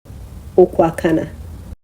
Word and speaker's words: Okwakana: O Okwakana.